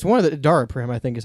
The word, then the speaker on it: Daraprim: It's one of the Daraprim, I think is how you say it.